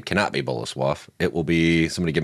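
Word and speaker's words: Bolesław: Boleslav. Cool. That is how you say it. I'm getting better with my Polish pronunciation.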